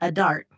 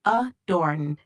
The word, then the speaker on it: adorned: It sounds like you're referring to the word adorned, not adart. The correct pronunciation is adorned.